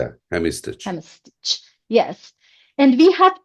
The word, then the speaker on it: hemistich: It's pronounced hemistich. Am I correct in pronunciation? Yeah, hemistich.